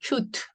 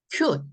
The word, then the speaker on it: cute: 그래서 이거를 이렇게 해서 뭐 의 발음으로 가셔도 되지만 이건 너무 한국적인 발음이다 이 말인 거죠. cute. 이렇게 하지 말고 cute 한 소리로 그냥 cute 이렇게 읽는 게 더 오리지널 발음하고 가까워요.